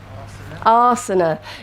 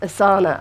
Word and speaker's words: asana: Asana. Great, which is not pronounced asana.